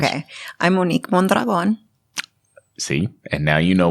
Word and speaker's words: Monique Mondragon: I'm Monique Mondragon.